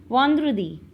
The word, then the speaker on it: vendredi: Yes, pronunciation of en is on. On. On. Yes. Vendredi.